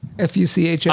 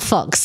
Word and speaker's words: Fuchs: Fuchs, not Fox.